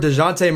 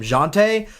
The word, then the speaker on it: Dejounte: that starting point guard DeJounte Murray, or the Spurs announcers were calling him Jonte. I thought it was DeJounte. It's spelled DeJounte, so I'm going to keep saying it like that.